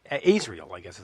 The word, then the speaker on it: Azrael: You've got Death Angel and, of course, Winds of Plague, The Agonist, and I guess it's Azrael, I guess is how you pronounce it. Yeah, Azrael.